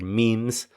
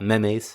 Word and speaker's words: memes: By the way, be careful with the pronunciation of this word memes. I hear a lot of Spanish speakers saying memes, okay? It's not memes, it's memes. Okay, so cool idiom there.